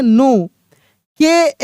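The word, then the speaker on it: knock: नो। के एन ई डब्ल्यू क्या पढ़ेंगे?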